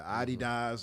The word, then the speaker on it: Adidas: She has the Adidas on, has the 80s aesthetics, which I know all of us love.